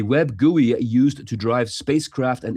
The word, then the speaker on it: GUI: It's pronounced GUI.